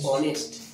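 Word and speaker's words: honest: তাহলে এখানে এটা যেহেতু অনেস্ট অ উচ্চারণ আসছে, তাহলে কি হবে বলো?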